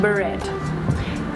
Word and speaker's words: beret: I should search for its pronunciation honestly. Beret. Okay, beret.